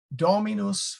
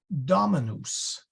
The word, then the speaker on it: Dominus: really true because it that's a short o it should be Dominus these are these are long but the Domino's is short with the accent on the first one but that's kind of